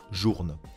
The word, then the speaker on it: Journe: numéro 7 fp journe fp journe se prononce comme on le lit c'est son fondateur françois